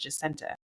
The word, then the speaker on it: Jasinta: like, "Oh, your name's Hassina." And I'm like, "Well, it's not because it was my mom's best friend name." And she's from West Indies, so they pronounce it Justenta.